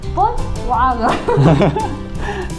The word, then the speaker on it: Volkswagen: 越南是 Volkswagen。